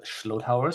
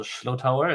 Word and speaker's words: Schlotauer: As Dave introduced me already, my name is Manuel Schlotauer. So this last name you pronounce like a slow tower, but with a sh. So Schlotauer, it's as you can hear from my thick German accent, it's from Germany.